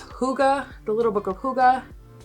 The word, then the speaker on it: hygge: other books too like the book of it's hygge the little book of hygge spelled like higgy he has a whole series but